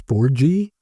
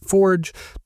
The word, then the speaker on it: Forge: So I used to say Forgy, because I thought that's what it was. But then I realized it's kind of like Turoczy. There are a bunch of letters there, but a lot of them are silent. You only pronounce a few of them.